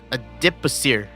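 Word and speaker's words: adipocere: Did he say it? Adipasir. That's how you say it.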